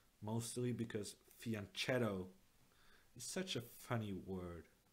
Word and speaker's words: fianchetto: fianchetto x' mostly because fianchetto is such a funny word apparently in Italian it's supposed to be fee on keto but I'm so ruined